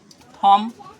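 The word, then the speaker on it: thumb: Rule के अनुसार देखिए बॉम, इसको कॉम पढ़ेंगे, कॉम मतलब कंगा, ये बॉम, बॉम मतलब बम होता है, इसमें बी साइलेंट हुआ। थम, इसको थंब नहीं पढ़ना है, थंब पढ़ेंगे बी साइलेंट, है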